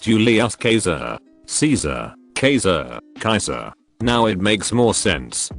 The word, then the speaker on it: Caesar: again julius caesar is also supposed to be pronounced julius caesar caesar caser kaiser now it makes more sense why caesar is